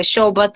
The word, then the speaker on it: Shobhut: my name is shobhut and my last name is a little bit hard to pronounce in English so in Arabic we say show about an insertation is so